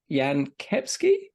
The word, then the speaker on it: Jan Kepski: FPL Yan yeah that's response I'll let you pronounce this Yan kepsky yeah that's my name yeah hello I'm very